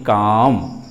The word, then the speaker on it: calm: तो CALM vowel A के बाद दो कॉन्सोनेंट लेटर है L और M, इसलिए L लेटर आपका साइलेंट हो गया। इसलिए CALM का रियल उच्चारण काल्म नहीं काम, काम।